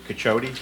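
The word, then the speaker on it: Cacciotti: My name is Cachote and I'll spell it C A C C I O T TI.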